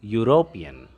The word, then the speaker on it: European: In the same way, dash European. EU. This is a diphthong sound, although these are both vowels, E and U. But when we pronounce this word, its initial sound is U, again a consonant sound.